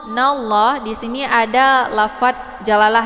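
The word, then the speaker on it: حسبنا الله: Hasbunallah, nallah di sini ada lafadz jalalah ya, yaitu lafadz Allah. Ini dibacanya tafkhim ya, jadi tebal karena sebelum lafadz Allah berharokat fathah. Hasbunallah, nallah.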